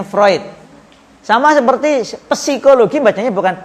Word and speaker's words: Freud: lolos berarti dari psikologi Sigmund fluid bacanya vroid sama seperti psikologi padanya